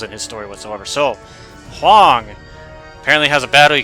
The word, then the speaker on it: Hwang: Hwang! The H is silent.